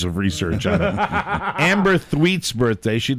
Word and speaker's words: Thweatt: And it's Amber Thweet's birthday. What? And Thweet, Thweatt, Thweet apostrophe is the S. correct pronunciation.